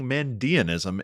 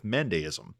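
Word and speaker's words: Mandaeism: Guy Stewart, Oracle of me saying Mandeanism instead of Mandeism.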